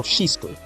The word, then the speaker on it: Shizuku: Anyway, in the extra, we have Kagari, Shizuku, Shizuku? No, Shizuku. That's Japanese way to pronounce it.